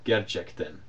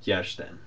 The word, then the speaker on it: gerçekten: and in books like in standard Turkish it would be spelled gerçekten, but in colloquial speech a lot of times it's pronounced a little bit more like gerçekten.